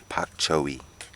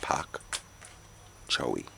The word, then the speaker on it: Pak Choy: me that sound nice but it's Pak Choy and that's the phrase I'm going to be using from now on is Pac chowy this side sometime the